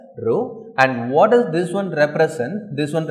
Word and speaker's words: rho: this one this one you need to pronounce it as rho and what does this